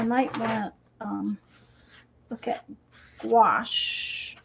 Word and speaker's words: gouache: But of course, Azure says I might want to look at gouache, I think is how you say it.